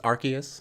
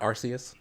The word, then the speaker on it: Arceus: It's Arceus, not Arceus. I believe it's Arceus.